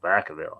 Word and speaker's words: Vacaville: ahead yeah the 1892 Vacaville or Ville Vacaville I think it's how they say it winners earthquakes occurred in